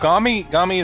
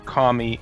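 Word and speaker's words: 神: Gami is actually it's a different pronunciation for kami in Japanese words, and kami being essentially a god or a deity.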